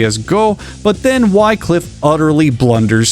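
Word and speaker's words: 五: 5 is said correctly as go, but then Wycliffe utterly blunders 6, which is pronounced roku, by saying no-go, which, as far as I can tell, is not even a word.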